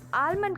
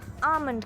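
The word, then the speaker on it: almond: आल्मंड बादाम को हम आल्मंड कहते हैं राइट बिल्कुल नहीं इसकी सही प्रनंसीएशन आफ मंजू यहां पर साइलेंट ओके आप से आप आल्मंड नहीं आ मन कहेंगे नऊ मूविंग ओंटो थे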